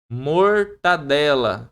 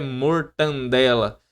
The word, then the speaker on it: mortadela: Mortadela não é mortandela.